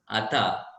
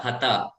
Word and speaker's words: hatha: Probably taking up from there, they don't pronounce the hatha properly. They're making it as atha, hatha, hatha.